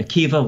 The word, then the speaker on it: Akiva: I'm sure most people watching are familiar with Rabbi Akiva, once again spelled with a B-A at the end, but pronounced with a V.